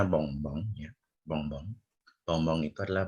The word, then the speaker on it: bonbon: Nah, contohnya ini ya, contohnya adalah ini bacanya bonbon ya. Bonbon. Bonbon itu adalah bahasa Prancisnya permen ya. Sebentar. Ada yang baru masuk. Nah, bahasa Prancisnya permen itu bonbon ya, cara bacanya bonbon ya. Bukan bonbon ya, bonbon.